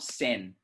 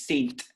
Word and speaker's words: saint: saint okay again uh this is not sen a lot of people like to pronounce saint as sen i don't know why right like san andreas saint joseph's school is wrong okay saint joseph saint